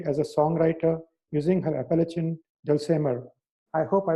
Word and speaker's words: Appalachian: a songwriter using her Appalachian dulcimer. I hope I pronounced it correctly, Diane. Close, it's Appalachian, like okay, the Appalachian Mountains.